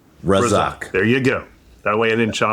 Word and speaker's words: Razzaque: how do you pronounce the last name? Razzaque.